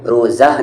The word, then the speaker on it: روزہ: الف کی جیسی ہوتی ہے۔ جیسے آپ یہاں پر روزہ نہیں کہتے، روزہ کہتے ہیں۔ فطرہ نہیں کہتے ہیں، فطرہ کہتے ہیں، یعنی یہ ہا ہے لیکن اس کی آواز الف جیسی ہوتی ہے۔ جیسے یہاں پر مکہ لیکن آپ کیا کہیں گے؟